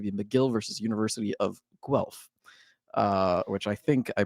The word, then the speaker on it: Guelph: And our third and final game is going to be McGill versus University of Guelph, which I think I pronounced somewhat right.